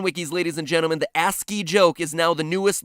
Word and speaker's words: ASCII: turned out to be ASC III codes for different letters of the alphabet for those of you who don't know ASC III codes or ASCII codes as it's properly pronounced the cringe is so